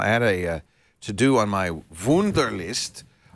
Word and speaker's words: Wunderlist: And that's what Wunderlist, or maybe it should be Wunderlist. Wunderlist. It's spelled W-U-N-D-E-R.